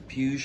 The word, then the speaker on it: Puig: so there she is the pews I believe I'm saying it right sorry if I'm not but I believe someone got hurt some bills pronounce it that way is p-u-ig and uh